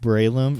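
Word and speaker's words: Breloom: which is the evolve form of shrew moosh pronounced braelum brave your i should but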